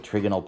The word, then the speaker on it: trigonal: uh t shaped uh note on pronunciation mr murray says this word trigonal mrs lee for those of you who had her says trigonal potato potato all right so electron pairs